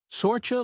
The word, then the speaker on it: Saoirse: Saoirse like Suraka, roughly.